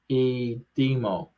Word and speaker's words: Dimitrov: hit the like button that I demo is pronounced like the i in interesting a demo oh Gregor goes for the drop shot but